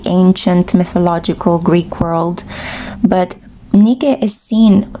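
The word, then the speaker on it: Νίκη: I think that you would pronounce her name Nike in ancient Greek.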